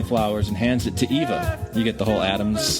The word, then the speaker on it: Eva: By the way, in Spanish, it's pronounced Eva.